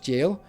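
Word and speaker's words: Gaol: They insist that the name of of a zone that's spelled G O A L or A O A O L is pronounced jail.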